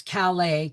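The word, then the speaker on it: Calais: So we pull into this gas station and even from Ontario you don't you pronounce Calala Calala because Calala is from France.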